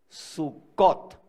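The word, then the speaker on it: סוכות: la palabra cabañas es sucot y Samuel nombre de Aquel lugar sucott Qué quiere decir cabaña así se dice cabaña El hebreo el plural termina en ot el plural femenino el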